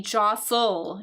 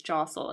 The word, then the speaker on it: jostle: it's going to be Josel Josel so the t is basically silent Josel that's that word